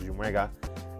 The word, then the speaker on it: Jumwega: What's also interesting, just like myself, obviously I pronounce my name as Jumwega. And I'm a bit lenient to people who say Chumeka.